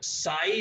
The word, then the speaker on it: psi: अब मतलब साई जो आपका है इसको PSI बोलते हैं प्रोनाउंस करने के लिए, और साई आपका वेव